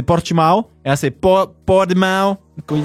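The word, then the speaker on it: Portimão: Alors la bonne prononciation, je crois, il me semble en portugais, c'est Portimao.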